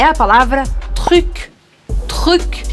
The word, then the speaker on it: truc: hoje é a palavra truc. Truc. E aí é uma ótima palavra para você realmente treinar a sua pronúncia do francês, porque ela tem R e ela tem U também.